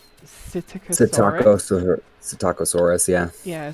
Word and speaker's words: Psittacosaurus: Psittacosaurus, yeah. Yeah, Psittacosaurus, and so everybody for short, instead of having, because it's a Latin word, so there's a silent P in it at the beginning and all this other stuff.